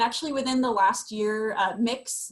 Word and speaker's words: Mx: And actually within the last year, mix is how it's pronounced. Just like, I joke, it's like, I'm gonna mix together all these gender things and see what comes out.